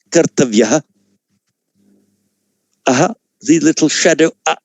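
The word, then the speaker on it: कर्तव्य: So here, on its own, or at the end of a word, this word would be pronounced kartavya.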